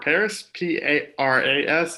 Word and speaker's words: Paras: You can follow me at Matthew_Paris, Paras. It's pronounced like the city, but spelled like a Pokemon.